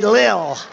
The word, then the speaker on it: Lil: pump l l Lil I said how do you pronounce that they said Lil and a great picture